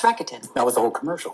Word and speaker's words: Rakuten: Somebody's going to hook How do me you up with pronounce that. Isn't it Rakuten? It's Rakuten.